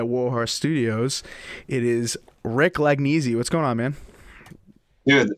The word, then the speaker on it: Lagnese: It is Rick Lagnese. What's going on, man? Dude, fantastic pronunciation of my last name.